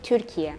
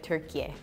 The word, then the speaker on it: Türkiye: So in Turkey, we call it Türkiye. In the United States, we still use the old and we also use the new pronunciation. So you can either say Turkey or you can also say Türkiye.